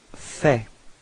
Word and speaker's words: fais: So first form for je, it's je fais. Okay, so final S is not pronounced.